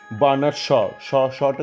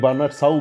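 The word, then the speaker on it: Bernard Shaw: সাহেব না স উচ্চারণ করতে পারে না, বার্নার শটা কি, মানে সাহেবকে কি স বার্নার স বলে, মানে বার্নার সাউ বলে, বার্নার শ।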